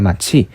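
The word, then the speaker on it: 骂: 네 번째 어려운 말로는 거성이라고 하는데 이렇게 높은 위치에서 낮은 위치로 빠르게 내려옵니다. 빨리 떨어뜨려서 발음하는데 마치 야 이렇게 소리치는 것처럼 느낌표에 그런 느낌표를 붙이는 것처럼 이렇게 읽으시면 되고요.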